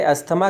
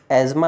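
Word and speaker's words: asthma: इसे अस्थमा कहा जाता है। जबकि इसका सही उच्चारण एज्मा होता है।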